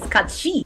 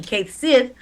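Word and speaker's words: Cait Sith: The actual pronunciation of his name is Kachi because it can't be Kate Sith because it's related to something else.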